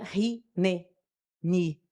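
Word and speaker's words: hineni: A palavra em português se pronuncia ri-ne-ni.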